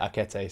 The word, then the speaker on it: Akete: Akete, apparently I looked up, apparently there's a real life footballer called Akete and you pronounce it Akete, so I will now be calling him Akete.